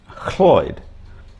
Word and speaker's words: Lloyd: their first or last name, which is really Cloyd, which can also be spelt Lloyd, LL at the beginning.